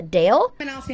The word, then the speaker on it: Adele: pronounced her name perfectly it's not Adele it's uh Dale but I'll see how